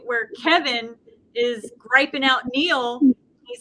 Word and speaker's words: Neil: i'm like oh yeah n-i-e-l is how she spells it right and i think i always want to call it feels but it's neil okay i have to